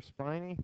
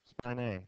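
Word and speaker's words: spinae: just a few more things uh the director spiny spiny is that how you say it spine a thank you um am I sorry I lost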